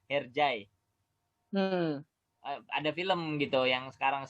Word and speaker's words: Hercai: Kalau itu berarti bacanya yang benar bukan Hercai tapi Herjai ya. Herjai.